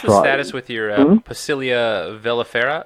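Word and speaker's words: velifera: And so what's the status with your Pacilia vellifera? Vellifera? Am I pronouncing that right?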